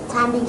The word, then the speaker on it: climbing: B is silent sound, silent letter.